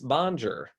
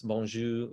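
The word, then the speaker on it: bonjour: and they say oh how do you say hello I think it's boner no it's bonju but they you know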